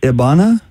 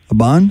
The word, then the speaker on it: Iban: Is it Ibana? Iban? It's Iban. Iban.